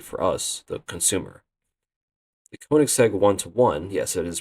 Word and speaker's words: Koenigsegg: of course great for us the consumer the kic seg 1:1 yes it is pronounced like that is a car that achieves